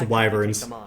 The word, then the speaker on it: wyverns: this soon also I realized it's pronounced wyverns thank you I think Wyn sounds cooler kind of like how